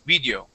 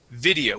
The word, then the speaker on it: video: a Portuguese I, because there you had said video, okay. The word is video with the short I, just like if you